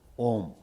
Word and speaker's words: Om: The Om, there are 3 words, A, U, Ma. Together, Om.